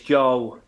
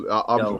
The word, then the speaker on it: Joel: Now I'm wondering if that means that I've got his name wrong. It's Joel. I think it's Joe. Like It's Joe Joel. Cole. Joel. Okay, well Joel. I apologize. It's Joel. I'll make sure I call you Joel.